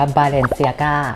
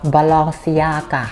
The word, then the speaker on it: Balenciaga: อ่าน ออก เสียง ว่า บาเลนเซียก้า ใคร ใคร่ อ่าน แบบ ฝรั่งเศส ก็ จะ อ่าน ออก เสียง ว่า balenciaga และ เหตุ ผล ที่ ไป